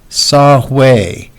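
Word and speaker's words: Saw-whet: There he noticed Saw-Hui. This is pronounced way, like that. So that would be the pronunciation for W-H-E-T is way. The T is silent. There he noticed Saw-Hui Owl, who was perched on a twig.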